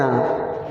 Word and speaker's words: hour: आर दिया गया है, HOUR, प्रोनाउंस कैसे निकल रहा है, आ, तो आपको पता है जो वॉवेल होते हैं उनके पहले हम एन का प्रयोग करते हैं, इट्स not vowel but इट is working as a vowel, ठीक है, प्रोनाउंसिएशन आ निकल रहा, so because of that I use their N, ठीक है।